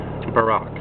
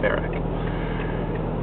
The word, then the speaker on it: Barack: Clinton and Barack Obama Barack that's perhaps more proper Barack is his name not bar who can say how